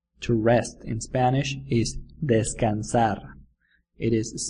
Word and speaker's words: descansar: rest because she's tired desk in Kansas sounds a little bit like the Spanish word for to rest Des desk in Kansas